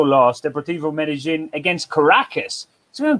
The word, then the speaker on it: Caracas: the portivo medellin against caracas so caracas or karaka as they would say without the s pronounced in venezuela uh caracas is a